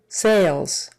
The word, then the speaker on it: sales: purchased the other condominium sales sales long a there and an a z sound on the end Sals sales department department